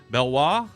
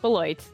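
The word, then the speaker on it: Beloit: Well, now you went to correct me if if I'm pronounc mispronouncing this, but Belwis Bloit.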